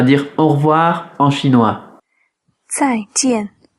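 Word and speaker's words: 再见: 再见，再见， Alors pour la prononciation, on a Z-A-I, quatrième ton sur le A, J-I-A-N, quatrième ton sur le A.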